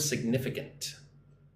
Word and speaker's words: significant: that it saves a significant amount of time and money on transportation. So look at the word significant. Significant. Significant. Right? Put the emphasis on the second syllable. Nif. Right? 1, 2. Nif. Significant.